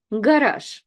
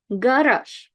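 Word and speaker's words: гараж: Garage, garage. That's where your car is, in the garage, garage. And again, Z is last, so it's kind of like sh rather than zh.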